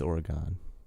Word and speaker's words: Oregon: that was right yeah it's not though it's Oregon that's what I was saying and everybody was like it's not like the trail this is I think it is so I always say Oregon and then people laugh at me but like